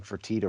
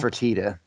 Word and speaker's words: Fertitta: our buddy Rick Snyder he keeps pronouncing for Tita wrong yeah yeah well Fertitta uh it's fun to